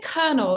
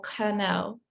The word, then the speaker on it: Kernel: is your vision for is it colonel or cornell as the way kathy pronounced it both work okay great colonel what's your